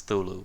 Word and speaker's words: Cthulhu: Which you actually pronounce as Thulu, but whatever.